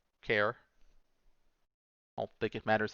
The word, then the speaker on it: char: one a character or some people pronounce it char me personally it's short for characters who always call it a care I don't think it